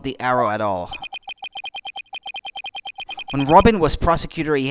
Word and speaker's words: awl: No, not owl. All.